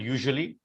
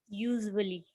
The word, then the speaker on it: usually: So you need to work on the S sound. So a couple of words here for pronunciation. Usually, pronounce the word usually. Usually. You're pronouncing it as usually. It's usually. Usually.